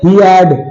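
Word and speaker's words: head: हम हमारा अगला है हिड क्या ये हिड है एच ई ही ए डी ड हीड है नहीं इसे हम हैड बोलते हैं हैड ए साइलेंट है एच ईडी से हैड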